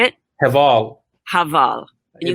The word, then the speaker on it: Heval: Heval.